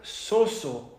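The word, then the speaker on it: σώζω: usa 110 veces en la Biblia y se pronuncia soso en griego lo que significa para salvar mantener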